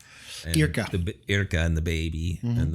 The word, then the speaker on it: Irka: but it's not like being at home with Irenka or whatever. Right. Is that how you say her name? Irka.